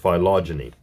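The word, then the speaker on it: phylogeny: observed the phenomena of philogyny H okay it's pronounced philogyny and is the development of species which are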